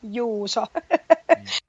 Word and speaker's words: Juuso: I'm sorry, forgive my mispronunciation. Is it Janne? Janne. Jan. Sorry. Yes. It's okay, but it's Janne, Joona, Juuso.